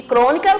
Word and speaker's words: crônica: Então, isso quer dizer que o Cro, de crônica, Cro, a antepenúltima sílaba é a mais forte, é a tônica.